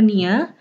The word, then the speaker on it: nio: Tulisannya nio sama tio tapi dibacanya nia. Kayak gini ya, nia. Tapi i-nya kayak yang i, jangan yang e tapi yang e ya.